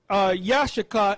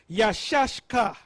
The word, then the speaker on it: Issachar: Now, the way to pronounce it is not Yashaka, is Yashashka. Yashashka.